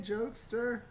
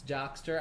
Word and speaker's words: Jokester: It's Jockster, I believe. Oh, well, I just didn't want to say it wrong. If I could be mistaken, which is rare, very rare, I think I asked on one of the streams and I was corrected to Jockster.